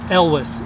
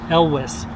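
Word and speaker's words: Elwes: and his family name is Elvis e LW es so I know his widow once complained that people were pronouncing this snowdrop galantis a Louisiana says we're not sick we're not wheezing it's Elvis anyhow just another example that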